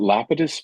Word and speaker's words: Lapidus: I pronounce it Lapidus, but I've heard it pronounced a multitude of ways.